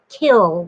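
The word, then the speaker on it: kiln: fire it in a kill it's k-i-l-n but i've been corrected billions of times they say it's you don't pronounce the n on the end anyway you fire it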